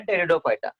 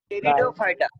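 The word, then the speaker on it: Pteridophyta: थॅलोफायटा, हॅलोफायटा, Hello, ब्रायोफायटा, ब्रायोफायटा, टेरिडोफायटा. टेरिडोफायटा. P silence आहे बरं त्याचा, पी सायलेन्स असतं.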